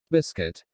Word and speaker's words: biscuit: when u is silent biscuit here u is silent letter same as all will